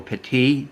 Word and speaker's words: Petit: just our two leaders Nick Pettit or patty depending on whether you're pronouncing it French style or American style is already on the